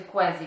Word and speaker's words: Quessy: Także poszukałam sobie po prostu w tłumaczu, no i wyszło na to, że czyta się Quessy, więc mam nadzieję, że to się tak właśnie czyta.